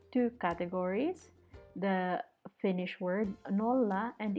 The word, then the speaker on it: nolla: categories, the Finnish word nolla and its pronunciation in English. So notice that I have here double letter and they are separated, which means that you have to pronounce them separately. For example, nolla.